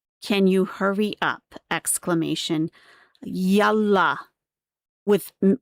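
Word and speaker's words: يلا: So when you're saying yalla, you're not saying yalla. It's not pronounced like that.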